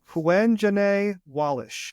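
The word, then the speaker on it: Quvenzhané Wallis: Well, this is how you pronounce her name. Quenjane Wallish.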